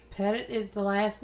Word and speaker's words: Petit: the pettit family and while other people have pronounced it petite it is pettit pettit is the last name i do my research